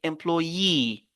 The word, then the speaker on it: employee: focalise sur le i regardez employe Loye on peut dire Loye Loye ok loy et les mots qui